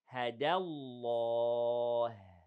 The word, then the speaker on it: الله: Allah سبحانه وتعالى here, the pronunciation of the name of Allah is heavy. Okay. The ha in the end is hams and it is light. So hadallah.